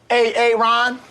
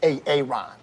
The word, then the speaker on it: Aaron: it the first time i said a-a-ron because it's pronounced aaron i mean where should i